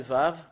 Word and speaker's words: ו: Et voilà le Vav. Voilà le Vav. Voilà le Vav. C'est V qu'on le prononce.